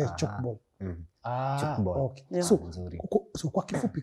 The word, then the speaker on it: Tchoukball: Maana yake mimi nilikuwa nasema TCHOUKBALL. No, the T is silent. The T is TCHOUKBALL. The T is silent. TCHOUKBALL.